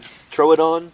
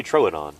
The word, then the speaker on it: Troodon: yeah well shoot because I've heard throw it on and I've heard people say true Don and I've heard people say true Adon alsoa Troodon true true troad on I say throw it on anymore the first one